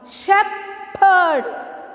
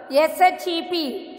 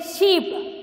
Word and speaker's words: shepherd: Shepherd. S-H-E-P. Shep. You don't say sheep. Okay, it is shep.